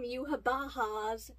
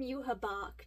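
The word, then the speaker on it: Yhwach: new ending poem from Yuhabaha's perspective. Yes, I am changing my pronunciation of the name from Yuhabak to Yuhabaha, since that's technically how they pronounce it in the anime.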